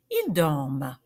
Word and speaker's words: dorment: So the resulting verb, je dors, tu dors, il dort, nous dormons, vous dormez, ils dorment. Don't forget, with all these verbs that end in ENT, the ENT is silent. Ils dorment.